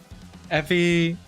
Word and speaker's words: Effie: pronounced that way. What the heck? Effie.